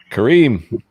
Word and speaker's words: Karim: Karim.